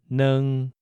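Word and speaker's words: 二: Next, we learned that the number 2 is neng. For instance, a pair of eyes is neng lui bat jiu.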